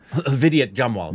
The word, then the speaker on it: Vidyut Jamwal: Vidyut Jamwal.